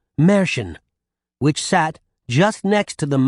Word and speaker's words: Mercian: Some people say Merchin. That's closer, but still wrong. Others say Mercian. That's about as close as I've ever gotten to pronouncing it right, so it's probably good enough for you, too.